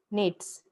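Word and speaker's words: gnats: है और नेक्स्ट इ नेट्स नेट्स एक स्मल जी साइलेंट है इसको नेट्स बोला जाता है स्मल फाइलिंग इंसेक्ट्स कंप्यूटिंग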